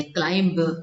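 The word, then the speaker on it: climb: पर मैं चढ़ती हूं इसको क्लाइम करते क्लाइम ऐसा बा नहीं बा यहां पर जो है साइलेंट हो जाता है ठीक है द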